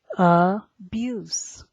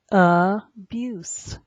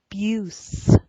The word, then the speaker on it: abuse: the next word is abuse abuse and that e on the end is silent some people might try